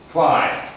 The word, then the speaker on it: climb: It's almost as if there's no B. Climb. It's like C-L-I-M-E as opposed to C-L-I-M-B. This is the correct spelling. The pronunciation, the B doesn't really come in. It's climb as if it was C-L-I-M-E as opposed to B.